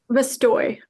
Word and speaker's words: Vestoj: How's it pronounced? Vestoj.